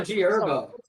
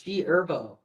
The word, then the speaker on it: G Herbo: It's also G Herbo. The H What is is silent, bro. What? The H is silent. It's G Herbo.